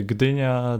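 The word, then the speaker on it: Gdynia: You have the Gina, the So, and the Okay.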